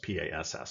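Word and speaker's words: PaaS: as a service or pass um it's spelled p-a-a-s it's pronounced p-a-s-s pass um with platform as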